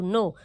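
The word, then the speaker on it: know: कहेंगे एन ओ डब् नो हमेशा यह कहेंगे कि नो जबक पूरी मीनिंग क्या है के एओ डब् और हम लोग सिर्फ कहते हैं नो कभी के बोलते हैं क्योंकि के साइलेंट है तो अगर कहे कि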